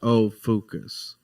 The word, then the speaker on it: Ophiuchus: In Greek, and is pronounced Ophiuchus.